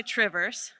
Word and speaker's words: Two Rivers: And Two Rivers. I know I'm supposed to say Trivers.